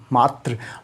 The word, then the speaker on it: मात्र: ध्यान देना, ये है मात्र। उच्चारण करो मेरे साथ, मात्र।